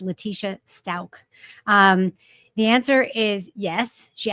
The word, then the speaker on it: Leticia Stauch: By the way, one of our viewers says it's pronounced Leticia Stauch.